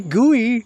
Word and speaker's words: GUI: people's Segways do we I say gooey all the time yeah a graphic user interface people have been saying gooey since the 70s so I say potato